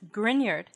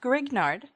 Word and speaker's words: Grignard: formation reactivity and mechanism the grignard reagent pronounced grignard not grignard after victor grignard who won a nobel